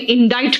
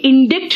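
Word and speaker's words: indict: मुझे इस केस में इंडाइट क्यों किया। बेटा ये इंडिक्ट नहीं है प्रोनाउंसिएशन, इसका प्रोनाउंसिएशन है इंडाइट।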